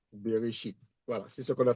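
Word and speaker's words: בראשית: Beréchite. Beréchite.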